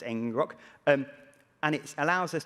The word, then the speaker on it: ngrok: can use something called ngrok i think it's pronounced engine rock um and it allows